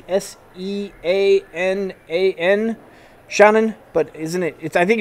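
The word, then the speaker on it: Seanan: I'm going to say her name right because it's spelled S-E-A-N-A-N, Shannon, but isn't it?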